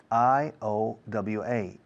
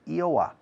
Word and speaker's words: Iowa: i a the next one Iowa is Iowa i o w a ioa is Iowa the next one Hawaii h-a-w a